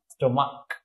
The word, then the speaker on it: stomach: Stomach. You see, the CH is pronounced like K or Bangla Ko.